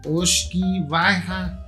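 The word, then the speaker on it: uisge beatha: Y entonces de ahí viene la palabra whisky, que de la palabra celta o del gaélico, usigue beata, pronunciado oshki baja, y que luego los ingleses lo convierten a whisky.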